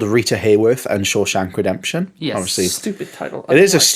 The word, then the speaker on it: Shawshank: And I know it's like we live in a post Shaw Shank world, but like it's not like it's a complicated world. It's two syllables.